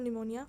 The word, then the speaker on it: pneumonia: PPLO, P फॉर प्लेरो, P फॉर निमोनिया क्योंकि उसमें P silent है, like L for like, O for organisms.